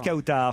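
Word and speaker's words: Kawtar: Ah, Bonjour Kautar. Je prononce bien votre prénom. Oui, c'est bien ça. Quelle est l'origine de ce prénom? Marocaine. Marocaine, c'est un très joli prénom. Kautar, ça s'écrit K-A-W-T-A-R, c'est bien ça?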